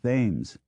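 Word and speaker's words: Thames: laughable to dwell on he insisted that grenwich and TS be pronounced as spelled green witch and themes and favored giving quality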